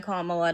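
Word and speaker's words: Kamala: What Trump's stance is going to prevent more murders than allowing Kamla to just what? How do you pronounce her name? Camala.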